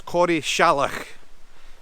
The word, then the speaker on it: Corrieshalloch: I only really found out how to pronounce it thanks to the guide. So this is Corrieshalloch, the Corrieshalloch Gorge.